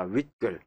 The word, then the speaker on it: 윗글: 주십시오 자 여기서요 여러분들 자 윗글 자 발음 자체가 우리게 위글 그럽니까 위글 아닌 거 같죠 그렇죠 뭐 위걸 아래글 그럽니까 아니죠 윗글 아래글 그러잖아요 예 발음 자체가 사이시옷이 들어가죠 예 또 위글 단 글이죠 그죠 예 그러니까 위 글이 아니라 윗글 자 여기서 우리가 여러분들